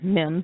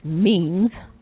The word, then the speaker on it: memes: Most people pronounce it as mems, but it's memes.